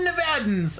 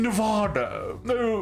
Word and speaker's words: Nevada: to say the name most Californians know how to pronounce Nevada everyone else turns British when they try to pronounce my state it's one of my biggest pet peeves I'm not going to lie unironically big pet peeve Nevada I'm like why are you British all of a sudden hello they're like the